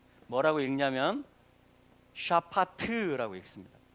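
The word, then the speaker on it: שָׁפַט: 뭐라고 읽냐면 샤파트라고 읽습니다.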